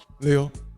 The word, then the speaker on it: Liu: Did I say Leo or Lou? I I messed it up. Leo.